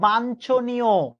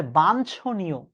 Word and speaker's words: বাঞ্ছনীয়: আমরা উচ্চারণ করি বাঞ্ছনীয়। বিশ্বাস করেন ভাইয়ারা, উচ্চারণ ভুল করি বিধায় আমরা ভুল লিখি। আসলে শব্দটা হচ্ছে বাঞ্ছনীয়। ইয় ছ হবে, ইয় চ হবে না। এটা হচ্ছে ইয় চ, কিন্তু আসলে হবে ইয় ছ।